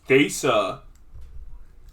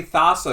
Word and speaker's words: Thassa: Desa. Yeah. It should be pronounced Greek, so it's Thesa. Cool. You can be that guy. I'm just going to say Thassa because it's easier and sounds equally as Greek.